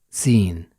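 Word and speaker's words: سين: to the next letter its sound is SA like the first letter in smile and its name is seen we can find the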